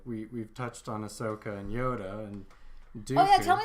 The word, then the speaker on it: Ahsoka: So so we get weird shit like the pikes and Darth Maul and Ahsoka. Oh, I said it right. I have to train myself out of saying Asuka.